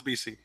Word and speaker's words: Vici: It's not French or Spanish. Joshua Vici. It's not Italian, it's BC.